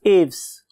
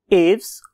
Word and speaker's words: Aves: का नाम है class एव्स. When I was listening its pronunciation, तो मुझे दो किस्म की pronunciation मिली. उनमें से एक एव्स और बहुत से लोग इसे एविस भी बोलते हैं.